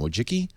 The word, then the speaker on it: Wojcicki: How do you pronounce her last name? Wojcicki.